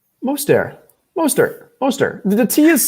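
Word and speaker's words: Mostert: silent it's not moisturized moister it's not yeah that tea is silent most of the air what's there what's the area i don't know it is not there that t is silent i know that for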